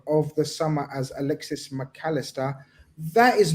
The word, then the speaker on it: Mac Allister: the profile of Alexis McAllister. Is that how you say his name? It's not McAllister, it's McAllister.